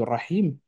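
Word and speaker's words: الرحيم: hein, le Ra de Rahman, le Ra de Rahim. Et cette lettre, elle peut être mal prononcée par des débutants qui commencent le phonétique parce qu'on va la prononcer comme un R normal.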